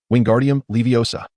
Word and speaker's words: Wingardium Leviosa: Repeat after me, "Wingardium leviosa." Pay close attention to elongate the pronunciation of O slightly. Wingardium Leviosa.